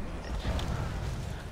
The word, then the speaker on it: Munich: I'm calling it Munchie, even though it's pronounced Munich.